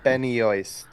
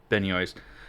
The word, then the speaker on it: Benoist: And Um, Melissa, I don't know how to pronounce her. Benny Yoist. Benoist.